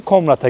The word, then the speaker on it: Komrat: Komrat'a geldik. Komrat diye mi telaffuzu da?